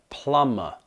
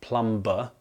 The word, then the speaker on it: plumber: heard my students say plumber and I had to tell them time and time again don't pronounce the b don't pronounce the b don't pronounce the b because you're driving me insane it's plumber not plumber plumber matano